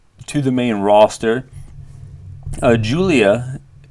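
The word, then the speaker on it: Giulia: the main roster uh Julia pronoun or spelled like gulia uh the biggest star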